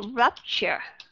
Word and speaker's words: rupture: Có nghĩa là cũng là letter U, nhưng mà ở trong cái syllable thứ nhất, rup, thì chúng ta đọc âm short you sound.